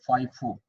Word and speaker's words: FIFO: इसको हम प्रोनाउंस करते हैं FIFO.